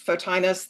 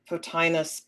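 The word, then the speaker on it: Photinus: Um, there is a technical word in here called, and I'm probably mispronouncing it, so you're the Latin, but it's fotinus, the um the the the scientific word for firefly.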